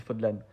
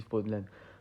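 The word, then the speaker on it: Fódlan: dans un monde fictif, médiéval et fantastique nommé Fodlan. Fodlin, je ne sais pas, mais au moins ça se dit Fodlan pour moi, parce que je crois qu'ils le disent dans le jeu, ça se dit Fodlan.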